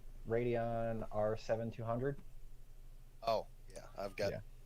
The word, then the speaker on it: Radeon: you say it right radio yeah yeah right radeon r7200 oh yeah i've got one a little